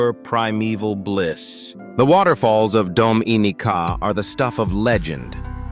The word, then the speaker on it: Dominica: And finally, at number one, the most underrated island in the entire Caribbean, a place pronounced Dominica.